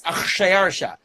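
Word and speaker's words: Xšayaršā: The Greeks were unable to pronounce the Persian sounding of it. It's Achshayarsha. It's 2 consonants in a row.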